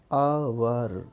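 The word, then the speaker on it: hour: जैसे हमारा कोई शब्द है अवर, तो अवर में इसका उच्चारण पढ़ा जाएगा अवर, अवर, इसका उच्चारण पढ़ा जाएगा अवर। तो यहाँ पर एच जो है वो साइलेंट है, और अगला सब वोवेल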